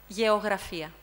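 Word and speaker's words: γεωγραφία: Geografia. So what we're interested in here is that the first gamma we pronounce ga, and the second syllable ye. Ga, ye.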